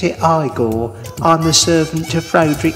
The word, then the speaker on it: Igor: lift the lid and see what's inside you pronounce it igor i'm the servant to frederick frankenstein so there